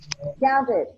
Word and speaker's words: counted: Counted.